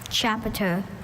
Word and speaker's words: chapiter: Once again, it hinges on the schwa in that middle syllable. That sound that could be any vowel. Chapiter.